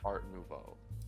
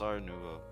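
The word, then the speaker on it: Art Nouveau: like shut up Victor it's ours noo not artvo no it's pronounced AR Nuvo something like those you don't say like the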